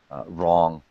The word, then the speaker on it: wrong: For example, wrong. Obviously, the W is silent there.